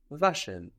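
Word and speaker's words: waschen: it's still a w just the W in German sounds like V how do you think you would say to wash in German to wash Vash vashion Vash how would you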